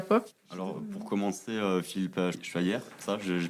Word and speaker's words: Schweyer: Alors pour commencer Philippe Schiller, ça je prononce bien. Très très bien. Vous présentez et qui êtes-vous ? Alors effectivement, je m'appelle Philippe Schevy, je suis mulousien comme vous a priori et